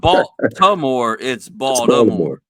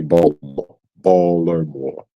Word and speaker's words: Baltimore: the camera so it it's not B to more it's bald uh others would be would sound more Baltimoreian if they say ball ber more that would be baller yeah if you say it like that let it roll off your tongue like that you'll sound like a natural Baltimore.